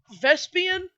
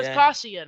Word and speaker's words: Vespasian: Vespian? Yeah. Vespasian. I feel like I am. Vespasian. That's how it's spelled. I keep calling him Vespian though.